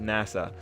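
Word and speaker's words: 星空: The story follows a protagonist whose name is written with the characters for Hoshizora, Starry Sky in Japanese, but whose name is pronounced Nasa.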